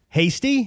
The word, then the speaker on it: Hasty: We're here with Josh Hasty. Did I pronounce that right? You did. Excellent. We were concerned. We didn't know, is it like tasty?